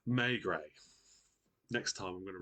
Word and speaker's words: Maigret: Maigret. Next time I'm going to write it in brackets how it's pronounced.